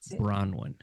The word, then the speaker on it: Bronwen: spell it right now b r o n w n with bronwin see how clearly I said that now write it down